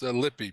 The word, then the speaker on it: Lippe: It's Lippe, but no big Is it deal. Lippe? There's no correct way to pronounce it, so no worries. Is it the Lippe or Lippe or? People take liberties with it, which is fine.